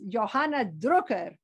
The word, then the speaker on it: Johanna Drucker: and what's your name my name she said is Johan drer giving it the Dutch pronunciation Johanna the printer he